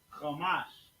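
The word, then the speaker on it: חמש: Number 5, Hamash. Ha, Ma, and Sha. Ha, Ma, and Sha. Connect on the Ha, because the syllable is by itself. Ha, and then Ma and Sha make Mash. So we got to connect them to those two. Connecting them together, making Mash. Chamash.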